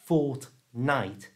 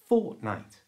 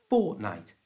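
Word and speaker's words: fortnight: to say this properly don't pronounce the T in the middle it's not fortnite it's fortnite fortnite you try it uses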